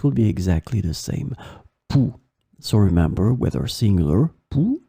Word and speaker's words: pouls: So phonetically, it will be exactly the same. Pouls.